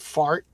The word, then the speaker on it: Zvart: A Zill, and then of course the Zvart, which we pronounced fart.